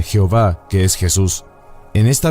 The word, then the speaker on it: Jehová: la primera letra del Sagrado nombre de yot ebab e que se pronuncia Jehová que es Jesús en